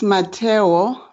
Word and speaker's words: Mmatheo: remind us again how we pronounced her name it's my towel and it means foundation and it means foundation yes oh